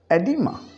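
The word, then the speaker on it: oedema: अब ये जो वर्ड हम प्रोनाउंस करेंगे, we start with E, एडिमा, एडिमा। तो हमने समझा एसोफगस एंड एडिमा। जहाँ पे वर्ड ओ और ई इकट्ठा आएगा हम ओ को नहीं बोलेंगे, ई से स्टार्ट करेंगे।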